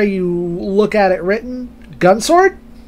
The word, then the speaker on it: Gun X Sword: look at it written, Gun Sword. My understanding that sometimes the X is not pronounced, because we have Namco X Capcom or Namco Cross Capcom.